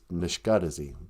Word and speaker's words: nishkadezi: The word for mad, to be angry, is nishkadezi. But you drop the I when you say I'm mad.